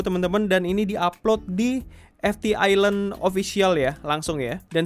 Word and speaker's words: FTISLAND: Malah Fetish Land teman-teman ya. Salah ya. Jadi yang benar itu adalah FT Island.